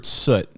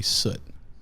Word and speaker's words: Soot: I'm Wilbur Soot, or Soot if you're American, and I run Soothouse. No, I think European or all Americans say Soot.